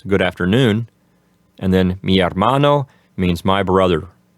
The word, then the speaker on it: hermano: And then mi hermano means my brother. Remember to keep the H in the word hermano silent.